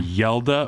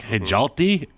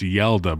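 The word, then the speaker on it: Hjalte: some help from Reed and Matt on the pronunciation yelda froholt if you looked at the way it was spelled I think it's h-j-a-l-t-e which is like hejalty and then they're like nah it's yelda bro say that Copenhagen that's where that's coopenhagen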